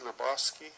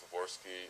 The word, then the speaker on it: Levorsky: week mr lebowski i'm sorry if i'm mispronouncing your name morning good morning um right my name is levorsky i'm a co-farm manager